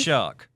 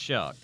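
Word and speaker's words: Shough: It is pronounced shock. I was Yeah, it is pronounced shock.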